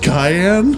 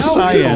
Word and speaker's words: cyan: Isn't it pronounced cayenne? Is it cayenne or cyan? Oh my gosh, don't you dare say it's cayenne. Like the pepper? Cayenne pepper? It's cyan, isn't it? Yeah, it's got to be cyan.